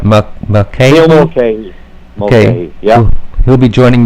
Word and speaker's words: McKay: Can you pronounce McKay? Neil McKay.